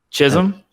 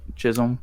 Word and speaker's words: Chisholm: her name shirley chisholm chisholm yeah yeah yeah it's about like stockholm but chisholm yeah if i have